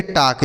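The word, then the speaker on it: talk: टी ए एल के टॉक। बच्चों यहां पे जो एल है ना, यह साइलेंट है। इसको हम नहीं पढ़ेंगे। ठीक है? इसे पढ़ा जाएगा टॉक।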